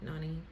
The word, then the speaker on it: Nani: he was like yeah your name rhymes with mine get it lonnie nani he was trying to